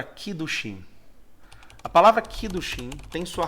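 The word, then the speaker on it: קידושין: A palavra casamento aparece nas Escrituras e ela tem a seguinte pronúncia em hebraico. Eu não sou nenhum hebraísta, portanto, vai aqui de acordo com aquilo que eu consigo manifestar. É a palavra kiddushim.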